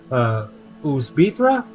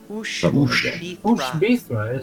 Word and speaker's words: Ushbithra: But at the same time, though, if there's this place, Uzbithra, is that how you say it? Ushbithra. So Ushbithra, if there is